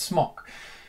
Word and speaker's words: Smok: I pronounce it smock. I think it's smock. I've heard it pronounced smoke, but there's no E on the end, so it's smock.